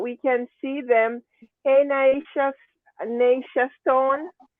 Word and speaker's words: Neysha: Is that how you say it? Neysha? It's Neysha. Neysha.